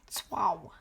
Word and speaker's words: Tso: The closest approximation is something like swa or swa, one syllable. The ts like the end of the word cats, followed by an aw sound. Tswao.